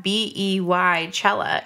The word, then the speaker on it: Beychella: B-E-Y is pronounced B. Yeah, I mean, I say Beyonce. Exactly. But it's not, if you have B-E-Y Chella, it's Beychella.